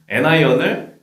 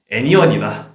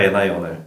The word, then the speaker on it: anion: 그거의 발음에 대해서 몇몇 친구들이 양이온, 캐타이온을 캐션이다. 그리고 음이온, 애나이온을 애니온이다.